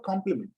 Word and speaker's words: compliment: Complement, complement, both are pronounced the same way.